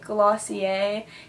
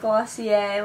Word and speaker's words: Glossier: I think that's how you say it, Glossier, even though there's an R.